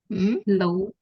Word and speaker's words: law: I have been practicing law for 5 years. Ya, tapi cara membaca law-nya ya ada sedikit kesalahan. Cara membacanya tuh kayak gini ya. Law, bukan law. W-nya nggak usah dibaca.